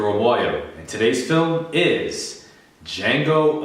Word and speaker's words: Django: I'm Omoayo, and today's film is Django Unchained, The D is Silent, starring Jamie Foxx, Christoph Waltz, Leonardo DiCaprio, Kerry Washington, and Samuel L.